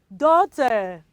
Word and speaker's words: daughter: do you pronounce those children daughter good job you daughter gh also is silence in that example and also in this